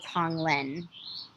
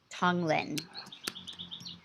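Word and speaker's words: tonglen: what was happening so there's a practice called tong lin it is a tibetan buddhist practice and tong means to to send out to give and len is to accept and uh it's spelled t-o-n-g-l-e-n tong lin and i first um learned about it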